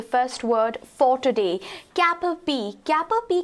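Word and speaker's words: cap-à-pie: कैन यू सी, इसका pronunciation हो जाता है कैपरपी, इवन दो हम पाई लिख रहे हैं, बट वी are going to be pronouncing it एज कैपरपी।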